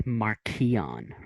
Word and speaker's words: Marchion: wrong that's true it's marchionne yeah just so everybody knows they really accentuate that h in the audiobook so what do you